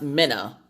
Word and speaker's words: Mina: And that's pronounced Minna. She hates it when you mispronounce it because she gets Mina a lot because it's M-I-N-A. So she gets Mina. And she's like, no, Mom, it's Minna.